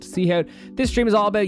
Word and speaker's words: SeoHowt: a streamer from ireland named seahawk pronounced seahawk this stream is all